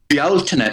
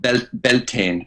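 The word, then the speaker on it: Bealtaine: The original and real name of that festival is actually Bealtine, is what we call it, Bealtine, but it's easier understood called Beltane in the United States and in Canada. But Bealtine is the way we pronounce it. And the reason we do that is because the Beal part of it is actually a reference to Baal, B-A-A-L, from those ancient times, you see.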